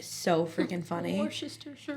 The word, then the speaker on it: Worcestershire: Roy's Sister Cherie?